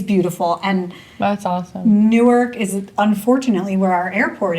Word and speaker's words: Newark: city that's just gross so how is it pronounced newk new Newark newk newk Jersey new newk it sounds just like New York the phone we were